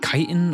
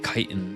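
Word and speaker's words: chitin: I usually hear sciency people pronouncing it kitan. Yeah, I think it is kitan carropus chassis blamage.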